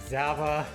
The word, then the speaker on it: Zava: My family, the side of the family that doesn't speak much English, pronounces the E as an A. Yeah, like Zava, yeah, exactly.